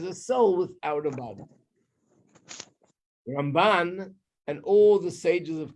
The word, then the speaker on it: Ramban: When you say Ramban, you put the emphasis on the second half of the word.